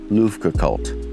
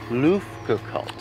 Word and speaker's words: Luftgekühlt: Luftgekühlt. Luftgekühlt, Luft 8. Luft. Luft. That's how you say it. Like Luft balloons.